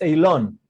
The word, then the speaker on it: Aylon: it's okay I mean it's Alon Alon okay Alon in Hebrew but it doesn't matter Alon is is fine Alon okay I have